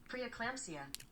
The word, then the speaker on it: preeclampsia: Preeclampsia.